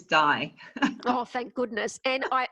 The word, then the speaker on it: Dai: name correctly so that's uh i know it's spelled differently but it is die oh thank goodness and